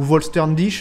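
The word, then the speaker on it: Vollständig: Étant donné qu'elles ont perdu leur Volstandig, ou Volsterndish, apparemment ça se prononcerait comme ça, ben elles sont bien moins fortes qu'avant, même si le pouvoir de leur Schrift est toujours là.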